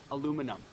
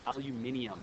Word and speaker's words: aluminium: end inum but then aluminum no it's aluminium that's the right way to say it no one says it like that so you don't